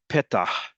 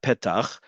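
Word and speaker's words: פתח תקווה: from Middle Eastern, North African countries would still pronounce it as het. So it'd be petah, not petach, petah.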